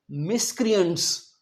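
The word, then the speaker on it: miscreants: सी आर ए एन टी एस इसे हम pronounce करेंगे मिसक्रिट्स मिसक्रिट्स का मतलब बदमाश या गुंडे यह भाड़े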